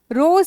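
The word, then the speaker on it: rose: रोज flower रोज तो एस और ई का जो प्रोनाउंसिएशन है बेटा स नहीं होता। ज होता है।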